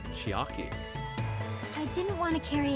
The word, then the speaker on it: Chiaki: Why did I say Chihai? I can't even pronounce the name. Chiaki.